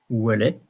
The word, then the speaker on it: Ouellet: And in French it's pronounced Ouellet because we don't pronounce the T.